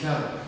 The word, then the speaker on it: kalp: Şey, bu mesela bu kalp kelimesi kalp. Kalp. Kalp. Heart. Heart. Tam telaffuzu nasıl oluyor? Kalp. Ön dilinizin ucunu, L harfini söyleyebilmek için üst damağınızın ön sırasına değdireceksiniz ve o zaman kalp diyebileceksiniz.